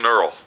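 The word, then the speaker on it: knurl: I just call it a neural k n u r l sir the K is silent fore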